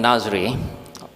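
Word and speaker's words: Nazre: I am Nazri. The spelling is quite bizarre because I spell N-A-Z-R-E, but the pronunciation will be Nazri.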